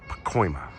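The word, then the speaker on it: Pacoima: crazy beautiful beautiful pcoa I remember I had trouble pronouncing that last time but it's Pima I've since learned it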